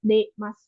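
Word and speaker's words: 出ます: Kalau misalkan di depan masnya ada si-nya itu baru dibacanya Dasimas gitu. Kalau misalkan si-nya nggak ada berarti dibacanya Demas. Dasimas Demas gitu ya.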